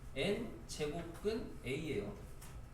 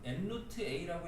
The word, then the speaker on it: n제곱근 a: 기호를 읽으실 때는 우선 교과서에 나온 정확한 읽는 방법은 n제곱근 a예요. - n제곱근 a 요렇게 읽으시면 돼요. 이유로는 이제 선생님들이나 그냥 뭐 이제 편의상 교과서에 이렇게 읽으라고 안 나와요. 정확한 읽는 방법은 아니고 n루트 a라고 읽으시는 분들도 있긴 한데 학생들 중에도음 원래는 그렇게 읽으면 안 되는 거고 알겠죠? 정확하게 읽는 방법은 n제곱근 a - n제곱 a 이렇게 읽어야 돼요.